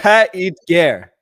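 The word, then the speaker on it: Paix et Guerre: I've now learned how to pronounce it correctly in French. How do you say it? Pas et guerre.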